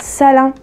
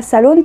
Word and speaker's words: Salin: Alors pourquoi je dis Salin et pas Salone? Parce qu'en fait, dans une de ses dernières vidéos, elle s'est présentée, elle a prononcé son nom de famille. C'est pas Salone, c'est Salin.